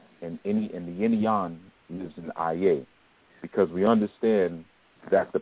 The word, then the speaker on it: Aye: So just like we have Aye, which is spelled A-Y-E, Aye, and Aye is the residence or the place of the person.